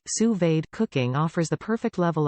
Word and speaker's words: sous-vide: menu what to cook sous-vide pronounced sous-vade cooking offers the perfect